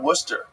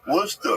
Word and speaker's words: Worcester: the use it for a steak sauce oh Worcester Worcester yeah yeah looks weird I was 2010 I